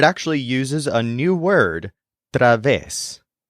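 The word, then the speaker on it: través: uses a new word Traves this is spelled t r a VES with an accent on the EES technically this is a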